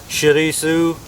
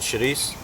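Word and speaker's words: chouriço: that or not uh shisu is another way it's pronounced a lot of Portuguese people leave the O's off the end and just call it Sharice so uh very very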